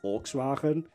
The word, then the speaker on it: Volkswagen: Volkswagen because that actually saying Volkswagen sounds really weird I think that's the English pronunciation but like in Dutch we call Volkswagen which yeah there you there you get your Dutch of the day the gut all G out the Volks V but like I remember